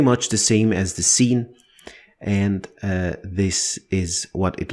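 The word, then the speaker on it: س: with the first one seen from the sound of it you can already guess that it is the S sound like in the word sir sir it is very similar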